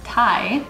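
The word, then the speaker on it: 鯛: because of this popular fish called thai whose name rhymes with meditai meaning joyful and japanese and i've seen that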